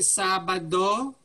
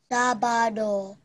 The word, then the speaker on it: Sabado: The way you pronounce it, Sabado. Okay? Let's start again. Sabado, Saturday.